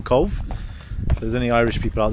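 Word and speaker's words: Cobh: Oh, sorry, not Cobb. The cathedral we saw in Cove.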